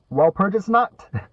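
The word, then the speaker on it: Walpurgisnacht: a ra perus notot I forgot how to pronounce that while P while purges not yes sir it is while purges not while purges one of those yep a colossal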